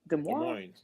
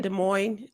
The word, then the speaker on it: Des Moines: this city Des Moines Des Moines it's it's like l-o-i-n Des Moines loin Des Moines Iowa